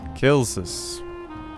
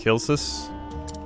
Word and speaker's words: Celsus: Celsus. That's how they're pronouncing it, at least.